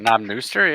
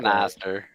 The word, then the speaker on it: Knob Noster: Well, that's what our Northeastern, that's like Knob Nooster? Yeah, I don't know. I don't know. As like Northerners, that's like us just being like, sound it out. Yeah. I mean, that's how I pronounce it.